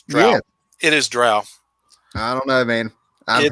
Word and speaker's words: drow: jump in all right tim how do you pronounce the race of dark elves oh it's dro no it's true it is drow i don't know man i've heard bro confirmed